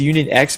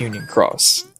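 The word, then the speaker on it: Union χ: cross is spell cross it's an X so so it's Union X but it's Union Cross okay so it's uh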